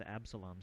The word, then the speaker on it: Absalom: The Purge the station itself is known as Absalom station and it's spelled a-b-s-o-l-o-m Absalom Absalom station as the Eudora